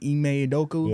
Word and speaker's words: Ime Udoka: Was his name Ime Udoka? Yeah. That's how you pronounce it?